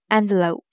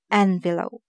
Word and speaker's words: envelope: The stress will be on the first part, envelope. And when we use it as a verb, it's envelope. The stress will be on the second part, envelope.